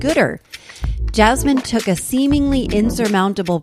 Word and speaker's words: Goodr: And Goodter is I'm going to say this wrong.